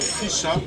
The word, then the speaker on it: Fischer: On a marché Fischer, comme on dit ici. Mais puisque Fischer était en allemand on dit Fischer, Fischer. Et Fischer signifie pêcheur.